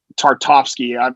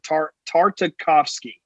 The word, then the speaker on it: Tartakovsky: can't i can't think his tartovsky i right 100 butchered that name oh here i wrote it down tartakovsky that's really hard to say yeah he's the